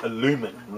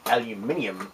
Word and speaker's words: aluminium: foil I don't say aluminum like the Americans do I say aluminium like it's actually spelled and properly pronounced now there's the ballast